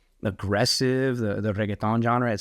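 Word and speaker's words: reggaetón: That's the English version, but it's reggaeton. Spanish. But you don't have to roll your R that crazy.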